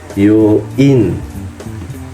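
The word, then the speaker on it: 病院: U, bioin. Huruf i sama n. Bioin dibacanya begitu.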